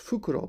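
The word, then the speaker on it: 袋: Bukuro means bag. It's usually pronounced fukuro, but when you add pochi to it, it's pronounced bukuro.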